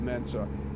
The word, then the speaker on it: Mensa: Final question to get in Mensa, okay? Yeah. Spell it for me.